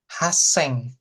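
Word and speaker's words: 八千: Haseng. Haseng. He haseng ya. Oke. Jadi kalau ada su kecilnya yang didobelin yang belakangnya.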